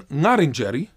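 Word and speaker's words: Ngarrindjeri: In classical Ngarindjeri, the pronunciation of the name Ngarindjeri, Ngarindjeri, was Ngarindjeri, with the first R being as an Italian and with the second one being as in English, so R and R. But in revitalized Ngarindjeri, the pronunciation is Ngarindjeri. Both R's are pronounced unlike English, R as in Ferrari.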